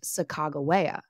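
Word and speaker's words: Sacagawea: Lewis and William Clark many believe that the Hada pronunciation has a hard G sound and instead would be pronounced sagaa translating to birdwoman and this is likely how it was pronounced by the core of Discovery many members of her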